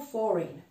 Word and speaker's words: foreign: Najbardziej rzucającym się w uszy przykładem, często słyszę ten błąd, gdzie litera G powinna być pominięta, to słowo foreign.